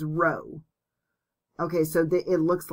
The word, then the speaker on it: rho: not a p okay this is actually a greek letter called rho and it's spelled r o h so notice that this is an r and this starts with an r when you say it but it's rho okay so it looks